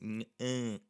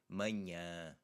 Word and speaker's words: manhã: You actually have the in manhã, the first one, because it has an N after it, that NH especially. Manhã. You have two of the same sounds in that word.